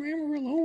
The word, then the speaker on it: Amarillo: And I'm from Amarillo, which rhymes with armadillo.